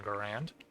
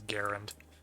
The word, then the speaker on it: Garand: really want an M1 grand sorry Tech the correct pronunciation is Garand um yeah uh I